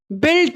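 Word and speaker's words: built: बिल्ट, यहाँ पे you silent है, बिल्ट, बिल्डिंग होती है ना, बिल्डिंग होती है ना, तो बिल्डिंग किसको बोलते हैं?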